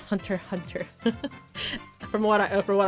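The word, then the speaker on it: Hunter × Hunter: Hunter Hunter uh not Hunter x Hunter you don't pronounce the X it's hunter hunter from what I for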